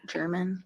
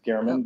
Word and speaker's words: German: German. And there's that Okay. mug. I think it's pronounced Garman, but that's apologize.